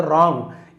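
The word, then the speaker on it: wrong: इसी प्रकार से रॉन्ग यहां पर भी डब्ल्यू आर एक साथ है। बट हम यहां पे डब्ल्यू को नहीं पढ़ेंगे।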